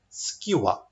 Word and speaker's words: skewer: Now say skewer. Skewer.